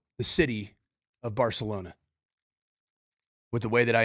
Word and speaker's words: Barcelona: pronounce the city of Barcelona with the way that I installed to you that lisp? Barcelona. No. Give me a TH where it's sa.